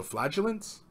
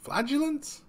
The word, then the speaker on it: flagellants: By the way, the G in flagellants is pronounced J, so flagellants? It's not flagellants?